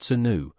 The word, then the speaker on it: swnw: They were actively prescribed by ancient physicians or SWNW, pronounced senu, for their perceived healing qualities.